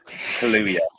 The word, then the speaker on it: Kaluuya: Daniel Kaluuya and Lakeith Stanfield, Best Original Screenplay, Best Cinematography, and Best Original Song.